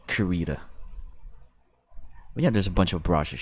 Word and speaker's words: Krita: lots of brush and i found out that karita is like pronounced in different ways there's craida krita but i always uh i call it kurita there's a bunch of